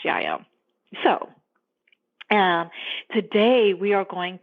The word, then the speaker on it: Jael: But in the book of Judges, in the Old Testament, her name is spelled Jael, but I'm almost pretty sure it is pronounced Yael.